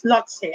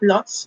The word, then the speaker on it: Lhotse: What is Lhotse? Actually, sinerch ko pa yung pronunciation niya. It's not Lhotse, but Lhotse. Para daw siyang Lao-tse, Lao-tzu.